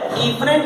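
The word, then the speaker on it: efferent: इसकी स्पेलिंग ई से शुरू होती है, तो इसको जो है इफरेंट आर्टेरियोल कहा जाता है।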